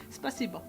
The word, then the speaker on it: Спасибо: Спасибо. Sorry? Спасибо. Spasiba. Yes. Sounds like you just said spices above. No. Спасибо.